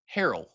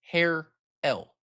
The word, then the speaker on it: Harrell: I said Harrell and it's hair L. Hair L.